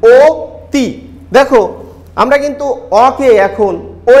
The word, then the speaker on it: অতি: আমরা কিন্তু অ এর মতো উচ্চারণ করছি না, আমরা অতি বলি, ও তি।